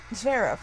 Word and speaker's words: Zverev: Zverev, right?